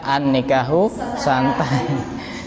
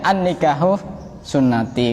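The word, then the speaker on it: النكاح سنتي: Karena kitabnya tidak diharokati, dibaca an-nikahu santai. Tulisannya sama ya. Kenapa kamu kok tidak nikah? Oh, saya dulu pernah belajar, ada dalilnya an-nikahu santai. Goblok. Iya. Padahal itu bacanya an-nikahu sunnati.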